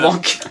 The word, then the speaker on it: Burbank: Burbanks. Ouais, je pense. Je sais pas, moi je le prononcerais comme ça. Il n'y a pas de S à la fin, je pense. Burbank, alors.